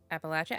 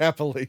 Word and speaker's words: Appalachian: Because I watched this stupid TikTok and they were fighting over how to say it and now it's one of those things that stuck in my brain and I'm like, "Wait, Appalachin. Appalachian." I think it's Appalachian.